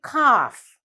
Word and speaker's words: calf: say calf we say kaff the letter l is not pronounced it's a silent letter but when you write